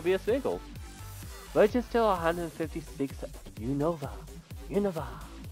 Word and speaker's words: Unova: Register 156 Unova. Unova. I say Unova. That's what I always used to say, but it's pronounced Unova, like very quickly.